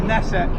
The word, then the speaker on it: Knesset: or is it pronounced nesset you don't pronounce the k in the knesset I don't know I